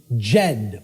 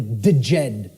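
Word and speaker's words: Djed: was known as the the Jed or the theed pillars depending on how certain people pronounce it and these Jed pillars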